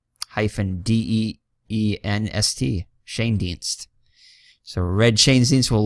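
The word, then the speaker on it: Schoendienst: you al Shane Dienst so it's just Shane and dienst so it's pretty easy to pronounce once you see it here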